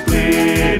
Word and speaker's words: Blidworth: For in Oldham the locals say Uffam, to the natives of Blidworth it's Blid.